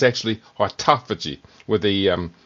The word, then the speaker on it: autophagy: Some people pronounce it autoagi but it's actually autophagy where they um emphasize the second syllable autophagy.